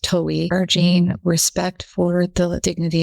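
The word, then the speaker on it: Towey: Shortly before her death, she wrote to founder Jim, I think it's pronounced Towie, urging respect for the dignity of life, the most beautiful gift of God.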